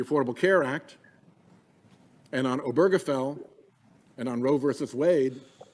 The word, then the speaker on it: Obergefell: three of them right here roe versus wade obergefell and the obamacare case that's how it's pronounced the washington post someday i've heard it